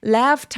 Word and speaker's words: laughed: GH는 F로 발음합니다. 이 발음은 발음 기호에서 확인하실 수 있어요. 그래서 laughed. 발음 기호가 F로 끝나다 보니까 무성음 뒤에 ED는 톤이 t로 발음하니까 left라고 발음해 주시고요. left 하면 빠르게 발음하면 떠났다란 뜻이기 때문에 left라고 길게 여유롭게 소리를 내주세요.